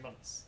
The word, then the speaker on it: months: You can say months, yeah? Gunpowder and months. So what's happening here, the pronunciation is very different from the spelling. Right? We write a th sound, but we don't say it.